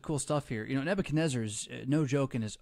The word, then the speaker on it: Nebuchadnezzar: all sorts of cool stuff here you know Nebuchadnezzar is no joke in his own right his name apparently is a mixture of names you could pronounce the different ways to nebuchadrezzar ah and nebuchadrezzar but it's composed of the